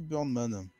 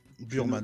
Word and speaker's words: Burman: Et donc, il s'agit de Cindy Burnman. Ok. Burman, note. pardon, je l'ai très mal prononcé. Tu l'as écrit comment? Burman.